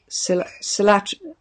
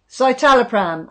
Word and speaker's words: Citalopram: Carol, I got on well with Silatrapram. Is that how you say it? What? Silatrapram. Well, I'm on. Yeah. Citalopram.